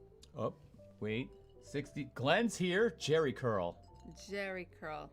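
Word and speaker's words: Géricault: Jerry Curl. Jerry Curl. Oh, I did mispronounce it. It's actually a really good phonetics approach Jerry there. Curl, yes.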